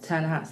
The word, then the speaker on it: Ta-Nehisi: I don't want to mispronounce his name, like Ta-Nehisi Coates. Ta-Nehisi.